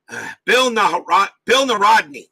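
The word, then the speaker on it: Bill Nahorodny: How do you pronounce it? Bill Narodny.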